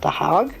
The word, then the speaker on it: The Hague: The Hague? The Hague. The Hague? The Hague. Hague. The Hague. I've heard it pronounced both ways, so.